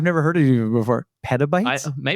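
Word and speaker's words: petabytes: Pabytes. Maybe I'm saying it right. Is it pabytes or pabytes? It's one of the two, but it's like a pita chip. Pa.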